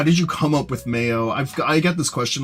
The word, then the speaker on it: Mayo: that's how you say it you just say Mayo you could also pronounce it as Mayo which was what I